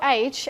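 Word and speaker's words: hours: age like allure like and there is नो एज and when you pronouncing like oh यू for example the word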